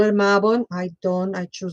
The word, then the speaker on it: Mabon: And so and before you think in your head, "Oh, let me correct Laura is Mabon." No, it's not, it's Mabon.